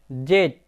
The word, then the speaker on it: Z: হবে ডাব্লিউ এক্স ওয়াই জেড কিন্তু বন্ধুরা জেড এর আমেরিকান প্রোনাউন্সিয়েশনে হবে জি বন্ধুরা আজ আমাদের ভিডিও